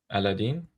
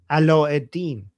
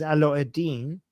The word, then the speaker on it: Aladdin: How do you say Aladdin in Arabic? Aladdin? Ala-eddin. Ala-eddin, yeah. Ala-eddin. So, Jafar is Jafar, Aladdin is Ala-eddin. And Princess Jasmine?